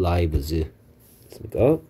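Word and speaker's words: lives: 스피어 세이브즈 그 다음에 이거 발음 라이브즈입니다 자 그 다음에 이제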